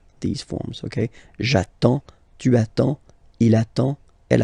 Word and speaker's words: j'attends: So the first form will be j'attends, j'attends, okay? You get D and S, well basically you don't pronounce them, okay?